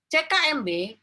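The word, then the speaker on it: CK-MB: jantung sebagian besar ee gini bacanya gini ckmb banyak terdapat di jantung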